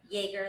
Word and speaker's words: Jaeger: Jaeger, like Chuck Yeager.